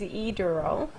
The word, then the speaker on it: Adele: You have to slow down and break that down in syllables for me. Okay, my first name is Adele.